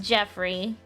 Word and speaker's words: Geoffrey: not like and his his name is spelled with a G it's Geoffrey it's Geoffrey but it's but it's pronounced Jeffrey and what he look